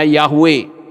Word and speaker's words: Yahweh: itu tetap bernama yahhui dalam teks Yunani itu ditulis dengan iaue membacanya yahwe jadi saat ini kita